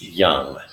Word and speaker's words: young: now notice with young first listen to the vowel sound it's ah it's like the schwa found which I won't get into now just just try to imitate my voice young and know the ending consonant on this word it's his mg is flown by putting your tongue the back of your tongue to the roof of your mouth not